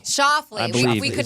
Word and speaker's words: Schauffele: Alexander Schauffele. Shoffley.